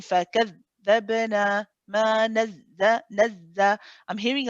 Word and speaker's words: فكذبنا: Yeah, can you hear that you say فكذ, and then it sort of stops. فكذ. So if you're saying that, if you're pronouncing it right, you should be able to keep it running for as long as your breath.